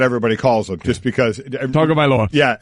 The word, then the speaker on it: Tagovailoa: Tagovailoa. Yeah, Tagovailoa. Everybody, doesn't go with Tua. Try and pronounce the last name, so they call him Tua.